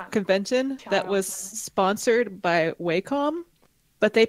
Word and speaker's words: Wacom: I went to a convention that was sponsored by Wacom, but they pronounce it Wacom, and I refuse to say that.